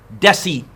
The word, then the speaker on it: deci: And deci, I'm pretty sure, 10 to the 1, yes?